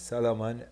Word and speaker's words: Salaman: So, this is, first of all, Shalaman is the word, but H is silent and you don't know. My name is Salaman, and this is the